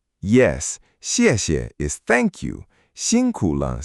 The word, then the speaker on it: 辛苦了: 辛苦了.